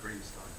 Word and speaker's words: Greenstein: He pronounced his name Greenstein.